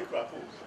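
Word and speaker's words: crapaud: How do you pronounce it? I say crapo. You say crapo.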